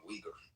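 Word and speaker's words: Uyghur: Calling them wiggers is funny, but it's like Wigger. Can someone explain to me what a wiger is? Sorry, I pronounced it wrong. Weaguer.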